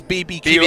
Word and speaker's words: BBQ: to be clear uh the pronunciation is BBQ oliv I know you said barbecue which of course you see the logo and the first thing you think of but they are known as the BBQ Olivers they are the